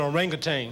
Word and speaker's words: orangutan: That's an orangutan. It means man of the woods, and orangutan is exactly what it is. Orangutan. People pronounce it both ways.